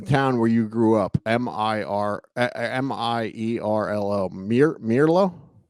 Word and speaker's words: Mierlo: Mierlo.